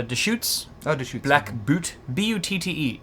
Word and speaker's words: Butte: B-U-T-T-E. I've always been confused whether it's called or pronounced Boot or I thought that was Butte.